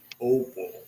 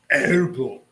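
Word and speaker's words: Opel: Americans say opal, but it's really opal as in all boogers drive opal.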